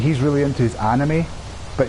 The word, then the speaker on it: anime: And it was really weird because me and that Saudi guy, we were talking, like he's really into his anime, but he pronounces it enemy, so every time he's like, you know, the enemy.